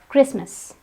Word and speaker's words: Christmas: it's not ballot it's ballet here the T is silent in the same way we have Christmas it's not customers of customers it's Christmas in both these words the T is site